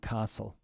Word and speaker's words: castle: the tea is dropped and castle the tea is dropped okay we can revisit